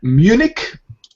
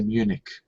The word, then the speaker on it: Munich: Okay, and Munich, in English we pronounce it like k at the end. In German it would be München, but in English we say Munich.